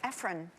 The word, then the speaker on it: Ephron: but but I'm yeah but it's ephrine anyway Ephron it's spelled Efron so you're not don't beat yourself